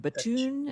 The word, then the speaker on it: Bethune: I've read it, but I don't know how it's pronounced. So I'm glad Batoon is how they said it.